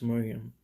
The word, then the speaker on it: Mariam: anti-marine fashion she said it doesn't really matter how it's spelled at the end of the day it's still pronounced miriam um keeping all jokes